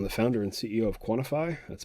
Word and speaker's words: QNTFY: I'm the founder and CEO of Quantify. That's spelled QNTFY, and we're a small mental health